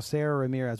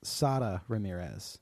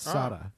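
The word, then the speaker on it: Sara Ramirez: kevin had said i think you're like well sarah ramirez which also i will say not only did we miss gender uh the actor's name is pronounced sada ramirez it's sada i listened to uh an interview with michael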